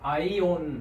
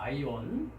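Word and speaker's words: αἰών: 자, 두 번째는 어떻게 발음할까요? 네, 그렇습니다. 아이온 합니다. 아이온.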